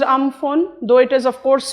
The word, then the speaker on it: Amphan: I am talking about um phone it is pronounced um phone though it is of course spelled we all